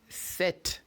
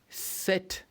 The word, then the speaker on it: sept: And 7 in French is sept. Again, sept. Yeah, so when you pronounce set, the P is silent.